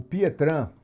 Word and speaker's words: Pietrain: abrir internet aqui colocar o pietran se escreve pietrain porque belga né E aí o a linguagem dos Belgas é o francês que vocês querem francês